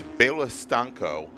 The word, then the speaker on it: Stanko: It is Bela Stanko, is how you pronounce our current provisional pole sitter in GTC 7.